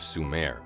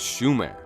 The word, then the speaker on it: Sumer: Shining one the name of sume which was the land of the Anunnaki and the Nephilim was more accurately pronounced as Schumer derived from Shem this was